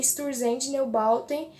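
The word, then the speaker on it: Einstürzende Neubauten: O nome dessa banda, pronunciando no brasileiro, é Sturzendt Neubauten.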